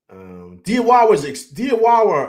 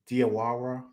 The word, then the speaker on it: Diawara: Diawara, I'm saying it right? Diawara.